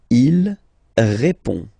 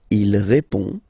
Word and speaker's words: répond: Il répond. So, final D is not pronounced. You only have this on nasal sound at the end.